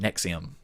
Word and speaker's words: NXIVM: from joining nexium and it's not Nick like this is Nick like how did he convince people to pronounce it nexium I don't know mix